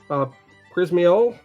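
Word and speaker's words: Przemyśl: On the 3rd of June, Przemysl, that's spelled once again Przemysl.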